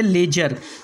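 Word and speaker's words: ledger: इसके बाद में सातवां रूल है हमारा, जब डी के बाद जी आ जाए तो डी के बाद क्या आएगा? जी आएगा तो डी साइलेंट होगा। जैसे पहला वर्ड प्लेज, यहाँ डी को नहीं पढ़ना है।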